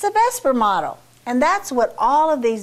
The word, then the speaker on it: VSEPR: And we pronounce it a variety of different ways. I just say VSEPR. It's a VSEPR model.